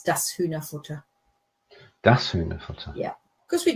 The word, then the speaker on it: Hühnerfutter: Pronunciation okay? Hühnerfutter, yeah.